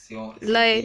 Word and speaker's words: La Haye: Robin, H-A-Y-E, avec un H majuscule, ça se prononce comme... La Haye, d'accord.